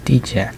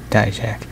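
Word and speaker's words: Dijak: Championship Wesley versus uh d-check or die check whichever one you want to pronounce it uh WWE has certainly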